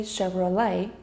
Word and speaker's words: Chevrolet: Chevrolet, again for another GM make that's been around over 100 years. People could still get Chevrolet wrong. To say Chevrolet, replace the T with a Y.